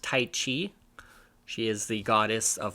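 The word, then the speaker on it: Tyche: kind of done you see tight this is pronounced tight Chi she is the goddess of fortune and you'll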